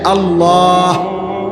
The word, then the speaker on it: আল্লাহ: পারবে এজন্য এটা খেয়াল করে হা পুরা স্পষ্ট বিশুদ্ধ উচ্চারণ হইতে হবে শেষে আল্লাহ শেষে একটা গোল হা আছে ছোট হা আল্লাহ মানে আল্লাহু তো